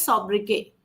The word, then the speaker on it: sobriquet: The correct answer here, guys, is the correct pronunciation of this word is sobriquet. Okay, sobriquet. So therefore, option number 1 is the correct answer. The T is silent. Therefore, options C, D, and E were directly to be eliminated. And the first, it's not sub, it is so. Sobriquet.